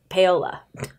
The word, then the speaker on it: Paola: not saying it right this not Paolo it's pate Paola I'm okay Paola Santiago and the